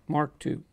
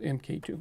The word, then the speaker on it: MK2: myself this time uh you pronounce this Mark 2 okay not MK2 Mark 2 last time I just